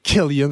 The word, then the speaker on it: Killian: C'est un peu sûrement ça qui motive aussi notre beau Killian, parce qu'on prononce vraiment Killian, puis ça, je suis à 100% sûr.